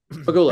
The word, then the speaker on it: Pegula: Pegula. Pegula.